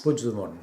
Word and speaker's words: Puigdemont: Puigdemont, c'est comme ça qu'on prononce? Puigdemont, oui.